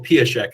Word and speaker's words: Piasek: And I pronounce his name again because he now pronounces the Hungarian way, Michael Piasek as well.